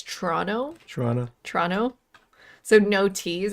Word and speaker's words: Toronto: the left of us protestantism T we don't pronounce our te's uh in the Canadian accent it's uh it's not Toronto it's Toronto Toronto Toronto so no te's actually in the